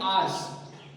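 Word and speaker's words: hours: तो अच्छा एक वर्ड जैसे होता है कि ये है 5 आवर्स, कल इसको आवर्स बोलेंगे, आवर्स पढ़ेंगे, पर एच साइलेंट होता है, समझ में आ रहा है, एच क्या है, साइलेंट।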